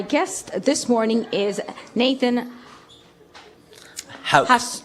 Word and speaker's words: Hauch: the first time again the pronunciation of the name is so it's a German name so that's why I moved to everything from hooch to house and all they things